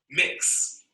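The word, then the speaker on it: Mx: of honorifics gender expensive people often use the honorific pronounce mix you shouldn't guess that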